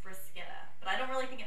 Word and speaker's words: bruschetta: it on menus, and people refer to it as bruschetta. But when I was in Italy, they actually corrected me and said that it was actually pronounced bruschetta.